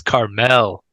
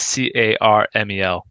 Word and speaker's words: Carmel: No, that's Carmel. But it's Yeah, spelled the same. yeah, caramel. It's not Caramel. No, Caramel. the town is Carmel.